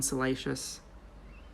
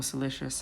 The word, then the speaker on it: Salacious: Even the paint on Salacious, or Salicious, however you want to pronounce it, is fantastic.